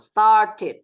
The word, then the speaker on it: started: Ingat yang ditambahkan ed, yang dibacanya jelas hanya huruf yang belakangnya t ya sama D. Contoh, started. Oke, come on, started. You can repeat together. Started. Nah, pakai jelas ya, pakai T.